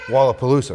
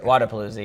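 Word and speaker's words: Wodapalooza: But you just went down and competed in Florida to Wallapalooza, right? Did I say it right? Wadapalooza, yeah. Wadapalooza. Yeah.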